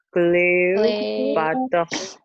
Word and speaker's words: Cléopâtre: Cléopâtre. Cléopâtre. Nah, E di akhir tidak dibaca ya. Atau E lemah.